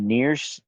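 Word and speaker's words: NieR: to get into the near the near series which is n i r so um there's near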